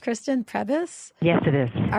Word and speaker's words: Prebys: Is that how it's pronounced, Kristen? Prebys?